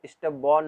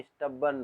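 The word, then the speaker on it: stubborn: अब देखिए, स्टबर्न, स्टबर्न आपको दिखा रहा होगा, इसको स्टबबॉर्न नहीं, स्टबर्न पढ़ते हैं, स्टबर्न, ठीक है, स्टबर्न।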